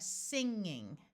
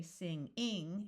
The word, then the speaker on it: singing: So here we have singing. Notice the first syllable is accented because most suffixes in English do not get accented. So we don't say sing-ing, it's singing, acting, inning, pinning, winning.